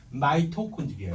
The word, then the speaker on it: 마이토콘드리아: 발음으로, 영어식 발음으로 마이토콘드리아 이렇게 이름 부릅니다.